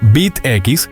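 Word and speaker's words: B't X: Bet X, pronunciado Bit X, es un manga de ciencia ficción de Masami Kurumada, también adaptado al anime por TMS, los mismos de Lost Canvas.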